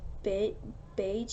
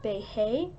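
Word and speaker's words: Beje: lived in debate bake a house I usually pronounced big beige a house but I looked it up and it's actually like Bay hey so excuse me if I hesitate then the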